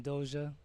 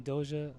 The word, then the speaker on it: Dosia: you do hi I'm dosha well I'm nice to meet you you can call me dosha it's spelled do si a like don't oversleep in